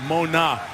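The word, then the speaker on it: Mauga: But waiting for him was Josh Mona, the linebacker, who's now on the third different pronunciation of his name. Out of Nevada, he said Mona is now how he wants it pronounced.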